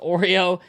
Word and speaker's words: Iorio: I believe it's pronounced Oreo.